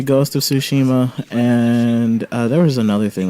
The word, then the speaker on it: Tsushima: So I'm gonna remember by saying sushi and sushi. I mean, that's fair, even though it's spelled different. But Yeah, but it'll make me say the right noises. that's true. So Actually, SU and TSU make different sounds.